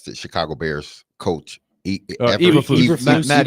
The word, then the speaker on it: Eberflus: Listen, I understand where he's coming from the standpoint of you have how do you pronounce the Chicago Bears coach? Eberflus. Matt Eberflus.